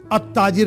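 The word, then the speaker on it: التاجر: लेकिन हम उसको पढ़ रहे हैं अताजिरो। तो ते के साथ जब लाम आए अलिफ लाम तो लाम साइलेंट हो जाता है।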